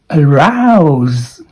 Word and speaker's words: arouse: This word is pronounced as arouse. This diphthong, AU, is pronounced as ow, ow. So now, do it right now, now. That is a diphthong, AU.